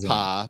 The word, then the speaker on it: Appa: It's pronounced Appa, but yes, he is a bison.